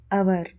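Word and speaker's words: hour: ಆಗಿರುತ್ತೆ ಆನರ್ ಅಂತಂದ್ರೆ ಸನ್ಮಾನ ಹಚ್ ಓ ಯು ಆರ್ ಅವರ್ ಗಂಟೆ ಡಬ್ಲ್ಯೂ ಆರ್ ಐ ಟಿಇ ರೈಟ್ ಬರೆಯುವುದು ಹೈ ನ ಉಚ್ಚಾರಣೆ ಹೈ ರೇಟ್ ನ ಉಚ್ಚಾರಣೆ ರೈಟ್ ಇದೇ ರೀತಿ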